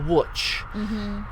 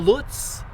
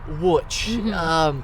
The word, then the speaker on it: Łódź: And I went to a town called Łódź. Not Lutz, Łódź. People will always mispronounce it.